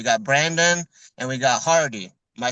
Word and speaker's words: Hardy: We got from Force Milling, we got Brandon and we got Hardy.